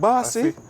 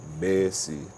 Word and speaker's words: Bay C: it like a different, because I used to spell it B-A-S-S-Y, and when I signed the autograph, girl, I said, "What that? Bossy? What that? Bossy?" So I said, all right, B-A-Y-C, Basie.